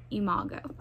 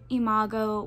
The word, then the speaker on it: Imago: pronunciation of it and i'm pretty sure it's pronounced imago um so i am now